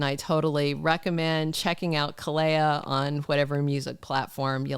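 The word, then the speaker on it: Kaleo: like it and I totally recommend checking out Kaa on whatever music platform you like stuff it's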